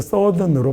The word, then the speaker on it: southern: 사우스 남쪽에다가 ERN 붙여서 이렇게 붙이면 발음이 사우스는 아니고 서든으로 바뀌어요. 서든 이코노미가 이 남부 경제가요, relied on이라고 하면 의지하다라는 말이잖아요.